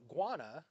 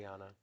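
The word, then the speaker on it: Ghana: Number nine, cinematographer Yapet Jackman is from Guana, I think that's how you say it. Gana.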